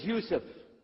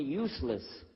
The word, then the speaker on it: Yusuf: work on it inallah my name is Yousef did you say Yousef said Yousef you're very good I wish you teach my wife she keeps mispronouncing it she calls me useless alhamdulillah now how many